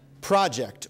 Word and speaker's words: project: This 2-syllable word for a big something you plan to do can also mean if you emphasize a different syllable to estimate how things will be in the future. Project or project.